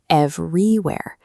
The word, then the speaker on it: everywhere: A native English speaker stresses the first syllable, but the voice placed the stress on the second, everywhere.